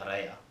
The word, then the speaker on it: Ria: 2010-11, with the commentators, the way they pronounce Ria, because in Europe, a lot of, especially in Italy, they pronounce it Ria, or they pronounce it Rea. So Johnny used to get called Ria, and in some places I'd get called Ray.